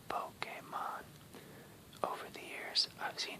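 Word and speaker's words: Pokémon: That's pronounced Pokemon.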